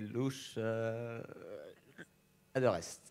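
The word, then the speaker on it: Loes Adegeest: Désolé pour la prononciation. Et Louche... Adorest.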